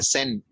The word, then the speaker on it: Seine: Okay, it's called the Seine. Siene. Siene. Seine. Of course, it's pronounced a little different than it's spelled, like French words.